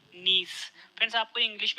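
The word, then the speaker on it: gneiss: answer है option दी निज friends आपको इंग्लिश में शब्द भी याद रखना है इसकी स्पेलिंग है जी एन ए I double S इसमें जी साइलेंट है यानी निज जो है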